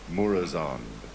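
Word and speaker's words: Murozond: of time we get to kill how you pronounce it mormozoid or the evil knows Domo murazon thank you in a five-man but Deathwing and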